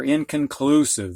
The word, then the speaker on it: inconclusive: to sound it out in khan this is the schwa uh sound cun clue this is the ooh symbol sieve now this mark means this syllable is accented or emphasized the most and this mark which